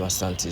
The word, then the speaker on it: Asante: The British could not pronounce the name Asante, so they called it Ashanti.